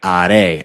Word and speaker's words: haré: Haré, harás. We're never pronouncing the H. Remember, H is always silent.